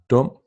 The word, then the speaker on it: dum: The vowel sound U lowers down to O, as in luft, sukker, and dum.